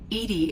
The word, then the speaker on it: EDI: are you named Edie Edie is the phonetic pronunciation of EDI that is an acronym for enhanced defense intelligence I mean into the